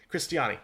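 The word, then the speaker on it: Cristiane: Brazil with a 3-0 victory over Jamaica thanks to a hat trick from Cristiani, yes, that's how you pronounce it.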